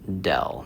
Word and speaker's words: del: is the symbol for dell. So this is pronounced as dell and that stands for the gradient.